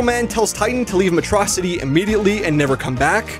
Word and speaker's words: Metro City: Sadly though, Titan caught on to this ruse since Megamind called the city Metrocity instead of Metro City. We established early on that he's like the only person who pronounces it wrong, so it's actually like a cool callback, I guess.